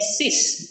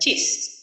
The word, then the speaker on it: cis: Ingat ya, dibacanya cis, bukan cis.